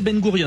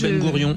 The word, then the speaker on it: Ben Gourion: Vous prononcez Ben Gourion donc c'est la bonne prononciation he parce que tout à l'heure j'ai dit Ben Gouron.